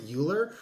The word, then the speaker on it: Uhlir: I pronounce it Uhlir, Okay.